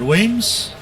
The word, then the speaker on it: Weems: Now, that is apparently how you say his last name as well. Jared told me how to say his last name wrong, and then his mother corrected me. So thank you, Joe, if you're out there in live stream land. It is Jared Weems.